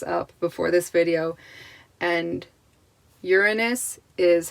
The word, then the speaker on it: Uranus: most people pronounce it uranus put the emphasis on the wrong syllable um apparently i just looked this up before this video and uranus is how um astrology